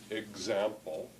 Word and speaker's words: example: like KS or GZ, as in example, example, where it's pronounced like GZ, or even its name, X, which, see, is pronounced like this.